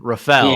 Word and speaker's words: Rafael: Not Raphael Stone, Rafael. Yeah, Stone. Even though our names are spelled the same, it's just pronounced different.